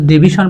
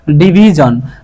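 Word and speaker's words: division: আমরা সবাই always ডিভিশন pronounce করি। কিন্তু এটা আমরা ডিভিশন প্রোনাউন্স করবো না। এই এস এর আগে কি আছে এখানে? আই একটা ভাওয়েল আছে। তাহলে এটাকে কি করবো আমরা? ডিভিজন।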